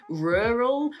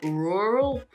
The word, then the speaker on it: rural: it difficult to pronounce rural rural is something that you have to practice so rural depending on different areas of the UK at least rural and rural French speakers sort of